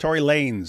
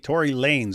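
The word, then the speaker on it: Tory Lanez: So, apparently people in the chat are saying his uh name is pronounced Tory Lanes. So, it's Lanes and he just uh styles it with a Z. Tory Lanes.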